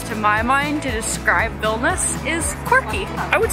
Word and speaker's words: Vilnius: We started saying Vilnius, we learned it's pronounced Vilnius.